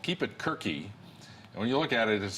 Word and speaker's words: KeepItQuerque: we want people to keep it quirky thank you for saying it right you know nobody says albuquerque